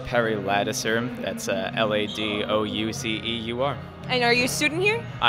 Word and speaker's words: Perry Ladouceur: State your name and spell it for me, please. Yeah, sure. It's Perry Ladouceur.